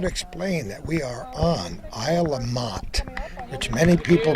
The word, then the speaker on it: Isle La Motte: We should explain that we are on Isle of Motte, which many people pronounce Isle of Mont, but it's the northernmost island in Lake Champlain.